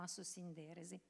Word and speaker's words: Assosinderesi: Poi noi lo pronunciamo senza usare l'accento che sta sulla E per una questione proprio di musicalità, quindi diciamo Assosinderesi per la musicalità.